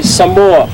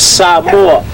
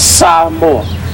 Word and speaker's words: Samoa: Most people will say Samoa. And the right pronunciation of the word is Samoa. Okay? So it's not Samoa, it's Samoa.